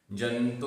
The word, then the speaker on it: जन्तोः: यहाँ जन्तोः विसर्ग का भी उच्चारण है, जंतो अकेला नहीं, जंतोः।